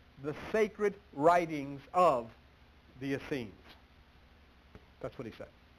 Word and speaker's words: Essene: Here we're going to look at tonight Jesus the Essene, E-S-S-E-N-E, Jesus the Essene. There was a man named Eusebius. I'm going to spell that name, E-U-S-E-B-I-U-S, Eusebius.